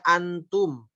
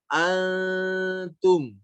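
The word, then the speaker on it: أنتم: Jadi jangan lagi dibaca antum, Tapi kalau warna hijau maka dibacanya antum.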